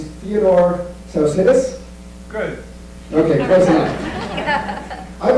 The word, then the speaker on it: Theodore Tsaousidis: It's a Greek name. His name's Theodore Tsaousidis.